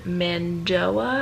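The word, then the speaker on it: Mando'a: And so he came up and started speaking in Mandoa, I believe it's how it's pronounced.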